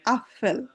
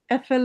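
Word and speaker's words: Apfel: যেমন আফফেল আফফেল এফেল বলা যাবে না আনসুক আনসুক আনসুক শব্দের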